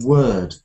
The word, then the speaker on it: word: Andrew you know everybody almost everybody from Russia mispronounces to a slight degree the word word yeah I know word sounds ear yeah they often say say instead of saying ER like a bird all of the bird